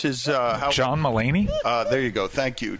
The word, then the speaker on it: Mulaney: Is it James Mulvaney? How do you pronounce his? John Mulaney?